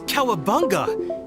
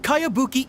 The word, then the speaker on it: Kayabuki: a really strange name who's this cowabunga it's pronounced kayabuki ek that would be